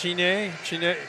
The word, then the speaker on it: Chenet: I've said this before, Thomas Chenet. The parents says it, I think they pronounce Cheney. Back in Quebec, Canada, Otterburn Park. You're getting mad. I'm saying it wrong, but I say it all different ways throughout to get one of them right. But all the boys call him Chenet, and that's what we'll call him here.